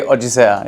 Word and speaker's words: Odisea: How can I pronounce it? Odisea, Odyssey. How do you say it in Portuguese? Odisea. Odisea. So we say Odisea.